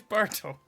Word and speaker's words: Barthel: is Bertel. And it's fucking Bertel? Bertel. It's spelled like that. Fuck off. What? Right, hang on. What's got it? Barthel. Right, okay. It's like brothel, but less inviting.